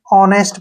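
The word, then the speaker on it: honest: और टी से ट ऑनेस्ट क्या पढ़ेंगे इसको नेस्ट ठीक है ना नेस्ट नहीं पढ़ना है ऑनेस्ट पढ़ना है फिर से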